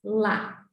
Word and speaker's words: ya: No caso do macuxi, usamos a sílaba YA, que se pronuncia, na maioria dos casos, lá.